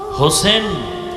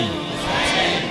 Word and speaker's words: হোসাইন: রসূলের কলিজার টুকরা ইমাম হোসাইন রাদিয়াল্লাহু তাআলা আনহু হোসেন না হোসাইন? আমাদের দুঃখ যে অনেক মানুষ নামটাও সুন্দর করে উচ্চারণ করে না। ঠিক। ঠিক। হোসেন না হোসাইন? হোসাইন।